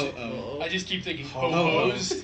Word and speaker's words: Ho-Oh: And then Right, so they're no longer searching for Ho-Oh.